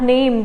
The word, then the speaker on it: Name: It's not name in German. It's known as Name. How do we pronounce it as? Name. As we learned, A is known as A in German. So it becomes Name.